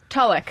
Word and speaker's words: Tulloch: Tulloch.